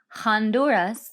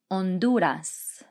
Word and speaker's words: Honduras: salvador el salvador pelice remember the h is silent there that one's always a little tricky for me so it's not honduras it's honduras nicaragua nicaragua costa rica